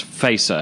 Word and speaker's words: Feser: And as I always tell people, you can just think of Star Trek. Set your phasers on stun.